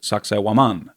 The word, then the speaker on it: Sacsayhuaman: It's called Sacsayhuaman. Some people pronounce it Sacsayhuaman.